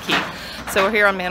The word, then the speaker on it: Cay: Standing here at Man O War Cay, Key, spelled C-A-Y, but it's pronounced Key.